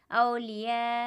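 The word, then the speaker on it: أولياء: मद्दे मुत्तसिल होगा और 4 अलिफ के बराबर खींचकर पढ़ा जाएगा इस तरह, औलिया, और हिज्जे हम इसके इस तरह करेंगे, हमज़ा वाव ज़बर औ, लाम ज़ेर ली, औली, या अलिफ मद ज़बर या, औलिया, हमज़ा ज़बर औलिया, औलिया।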